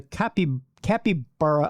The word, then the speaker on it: capybara: The animal in question is a capybara. I know people are like, you're saying it wrong, Tim. It's a capybara.